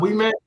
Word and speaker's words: Ouimette: We met.